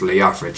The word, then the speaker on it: Leofric: I think it's Leofric.